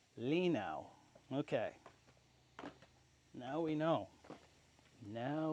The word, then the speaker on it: Linow: I screwed up the pronunciation again. It appears to be Lake Lino.